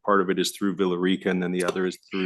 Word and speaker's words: Villa Rica: Villa Rica, yeah.